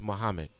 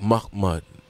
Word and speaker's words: Muhammad: Black people couldn't pronounce Muhammad, so they would say things like MUCK MUDD, and he had to